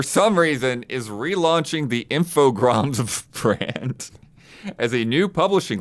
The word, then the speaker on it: Infogrames: Pretty sure Infogram. What the hell? There's an S. Yeah, but it's French. Oh. Infogram. I've always said infograms.